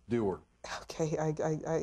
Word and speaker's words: Dougher: that's uh in over in Ireland they' actually pronounced it duer which is way too many letters for me so it's derer okay I I I it's a very unique